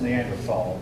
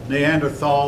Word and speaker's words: Neanderthal: The first one before the Cro-Magnon man was the Neanderthal man, sometimes pronounced Neanderthal. Both pronunciations are given in the dictionary. Both are correct. Neanderthal or Neanderthal.